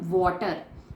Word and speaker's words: water: अब कुछ बच्चे बोलते हैं वाटर, तो बच्चों वाटर भी गलत प्रोनाउंसिएशन है, सही प्रोनाउंसिएशन होती है वाटर।